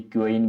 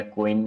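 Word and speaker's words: quoin: इसको जब बेसिकली क्योइन भी प्रोनाउंशिएट करते हैं, या कोइन एक्चुअल प्रोनाउंसिएशन इसका कोइन ही होता है।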